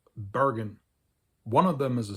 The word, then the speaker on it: Bergen: The Norwegian city, Bergen, or as the locals pronounce it, Bergen, has had a very long history as an affiliated member of the Hanseatic League.